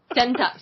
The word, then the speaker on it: Sentai: It rhymes with hentai! Sentai, Super Sentai.